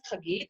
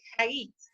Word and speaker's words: Chagit: You pronounce it Chagit, and they pronounce it Hagit because they're Argentinian and they're stupid.